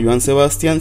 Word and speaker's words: Joan Sebastián: El público y los locutores comenzaron a pronunciarlo como Joan Sebastián sin el acento.